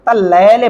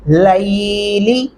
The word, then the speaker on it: اللیل: رکھنا ہے آپ نے، لام کے اوپر ایک غلطی ہوتی ہے تلفظ کی، وہ کون سی ہے؟ تلیلے پڑھتے ہیں اکثر لوگ، ایسا نہیں پڑھنا آپ نے، ان ہونا کیجئے، ان ناشئۃ اللیل، کیا پڑھیں گے؟ لیلی، ہی اشد وطئا واقوم